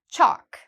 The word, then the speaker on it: chalk: Chalk, same thing. Again, we have the A here, which means no L, chalk.